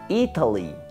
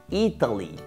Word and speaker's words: Italy: más no por ejemplo Italia se pronuncia muy diferente se dice Italy Italy y la gente que